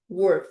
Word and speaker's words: were: E essa é were. Wor, fechadinho.